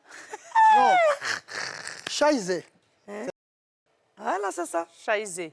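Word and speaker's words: Scheiße: prononcer. Hein? L'enfant voulait faire popo. Hein? Et puis ça m'a dit, t'étais Charcine. Charcine. Non. Scheisse.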